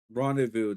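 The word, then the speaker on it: rendezvous: I forgot the Z and the S are silent. That's why I was getting confused. Rendevous.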